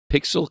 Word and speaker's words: Piczle: It is called Pixel Cross Story of Seasons, and Pixel is spelled Piczle.